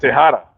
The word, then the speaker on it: Tejada: Hey, I know that the J is silent. You guys got to give me a half a point for that. I didn't say Tejada. I said Tejada.